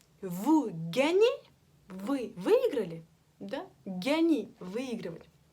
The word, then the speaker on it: gagner: Gagner. Выигрывать. Буква сочетания GN читается как ня. Ня-ня-ня. Как в имени Агнон, Агнес, ня. Гасконь, ня.